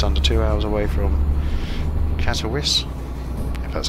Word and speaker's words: Katowice: and we're just under two hours away from Katowice that's how you pronounce it I got a clue try this